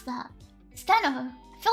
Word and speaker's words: Stheno: Steno. I feel like I don't know how you pronounce that. I feel like it's steno. I feel like the H is silent.